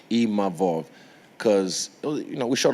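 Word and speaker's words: Imavov: to even nasen Im imav Sorry I learned how to say his name properly imov cuz you know we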